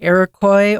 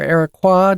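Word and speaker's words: Iroquois: in nor North America, including the Arakcoy or Arakqua depending on how you want to say it and Cherokee developed the three sisters farming system.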